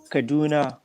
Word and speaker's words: Kaduna: How you pronounce where you're at in Nigeria? Kaduna, that's the northern part of Kaduna.